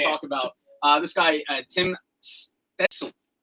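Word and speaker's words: Stützle: I'll take a second to actually talk about this guy, Tim Stetzel. I might be pronouncing that wrong. There's no N. I added an N. He's German.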